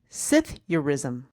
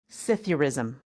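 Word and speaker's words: psithurism: Sith Sithurism. Sithurism. Can Can you spell that, please? Oh, that that gets even better. P S I T H U Rism. Cytheism.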